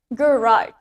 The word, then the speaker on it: garage: Garage, in British accent, the stress is in the first syllable. Untuk kata garage, di dalam aksen British, penekanannya ada di suku kata pertama. Garage. And in American accent, sedangkan di aksen Amerika, the stress is in the second syllable.